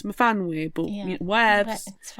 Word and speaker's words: Myfanwy: Bronwyn purposely says to Miffany that you say your name wrong, it's supposed to be Myfanwy, and she's like, oh, okay, I've always said my name wrong then.